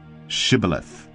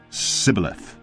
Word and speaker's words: Shibboleth: When he said, No, they said to him, Then say, Shibboleth. And he said, Sibboleth, for he could not pronounce it right.